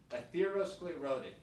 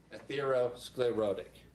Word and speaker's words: atherosclerotic: And I'm going to mispronounce this, but what's the difference between that and aosclerotic? It's the same thing. Atherosclerotic.